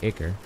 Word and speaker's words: ichor: I got ichor concentrate, or ichor. I know they say ichor in the game, but I know the word is pronounced ichor. And I refuse to pronounce it ichor.